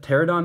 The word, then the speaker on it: Pterodon: Oh man, is that Pterodon Knight? I'm guessing the P is silent, yeah.